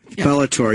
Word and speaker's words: Bellator: Bellator how do you say that bellor Bellator Bellator yes it's a lot of yeah know it's